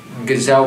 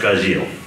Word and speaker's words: Gajeel: Gazelle Red Fox. He's pronounced Gazil.